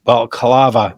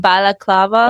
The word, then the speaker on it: balaclava: she knew what a Bava am I saying that right Bava how do you say it balaclava okay so detective G